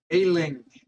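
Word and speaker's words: Aelling: Ailing. Because this A-E is pronounced like Azir, so we've got the duckling here.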